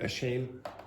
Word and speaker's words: ashamed: Like Andrea was asking about ashamed when she really wanted. Say that. Ashamed. Now you hear it's almost like a t.